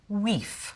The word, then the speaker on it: wife: The word for wife would be pronounced weef.